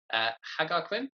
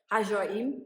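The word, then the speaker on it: Ħaġar Qim: I also saw, I'm going to pronounce these ones wrong as well, Hagarquim. Hajar'im, yeah.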